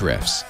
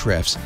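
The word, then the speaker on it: Ahrefs: to a href Escom the a is silent eight reps calm to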